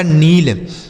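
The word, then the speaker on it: kneel: आगे के N double E एल के के साथ एन है ना तो के साइलेंट है तो इसे पढ़ा जाएगा नील।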